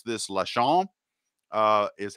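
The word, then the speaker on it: Laschamp: this stupidly but i think you pronounce this la chan uh is how you pronounce that word not less not last champ it's la chong and they're called their that's the word it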